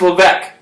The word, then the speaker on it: Levesque: no, it's Levesque.